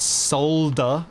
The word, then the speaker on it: solder: you won't catch me saying anything but solder and pronouncing the L uh I also call